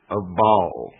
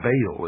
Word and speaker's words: Baal: of the ancient worshipped Baal our bail is some pronounce it ma with the Sun